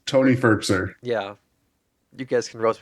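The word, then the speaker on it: Firkser: name for so long the hall is pronounced Anthony ferkser the old Tennessee Titans f-i-r-k-s-e-r how would you pronounce it Jordan through your life no I think you're right it's just uh it's a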